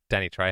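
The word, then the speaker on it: Danny Trejo: Danny Danny Tjo.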